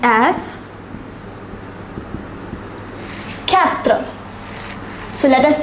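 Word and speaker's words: quatre: is pronounced as through a number four is pronounced as Catra so let us say this once more zero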